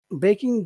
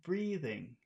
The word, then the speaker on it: breathing: my boss was baking breaking down my neck as I finished the report not breaking breathing breathing breathing my boss